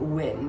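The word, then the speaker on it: Wynn: Wyn, but it's spelled W-Y-N-N.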